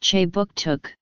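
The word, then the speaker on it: Kjipuktuk: name for Halifax is K he puck chuck pronounced che book took the first permanent European settlement in the region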